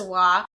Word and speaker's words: Waugh: I think Evelyn Waugh is spelled the same, so it's probably Waugh. No, I thought it was Wah, but then...